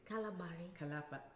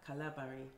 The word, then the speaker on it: Kalabari: And then there's obviously the fact that what we were discussing earlier about the Kalabari, am I saying it correctly? Kalabari. Kalabari.